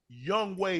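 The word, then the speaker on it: Yonghoe: That's the way it's that it's pronounced Young Way.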